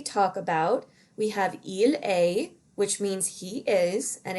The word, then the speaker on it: est: We have il est, which means he is. And again, this is pronounced A, like the letter A, not est.